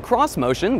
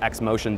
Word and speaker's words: Xmotion: cross motion concept the cross motion which looks like it's supposed to be pronounced X motion but isn't is supposed to preview